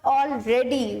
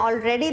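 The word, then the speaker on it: all ready: तो ऑल रेडी, इसको देखिए प्रोनाउंस कैसे करना है। ऑलरेडी नहीं बोल रहे हैं हम, बोल रहे हैं ऑल रेडी।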